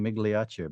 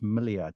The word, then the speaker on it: Migliaccio: for not correcting me I've been mispronouncing your last name saying migia but it's miao right oh I honestly